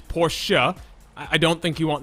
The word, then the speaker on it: Porsche: I think we're going to have to correct your pronunciation there. First, it's Porsche.